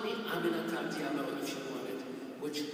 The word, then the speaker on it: Aminata: Aminata, 4 syllables. It's really not that hard.